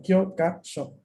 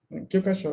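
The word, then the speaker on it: 教科書: la complejidad está en el hecho de que tiene 3 sílabas. Lo capaz por eso se les complica. No, Kyokasho. Kyokasho, libro de texto.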